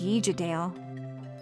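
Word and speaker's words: Uigeadail: Professor, this one is the Ardbeg YEE-ja-dale. Okay. The Ardbeg YEE-ja-dale.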